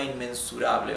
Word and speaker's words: inmensurable: And try to pronounce this R correctly, not rable. Rable, no, it's rable, rable, right?